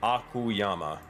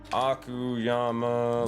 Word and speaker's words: Akuyama: that right he said akuyama it's like akuma but not exactly because they are different in my world akuyama let me spell that